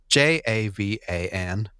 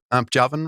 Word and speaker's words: Javan: number one is is j a v a n Rhino ja no you pronounce that like a y or pronounce it like a Javan Rhino or do you say Javin Rhino Javan Rhino there are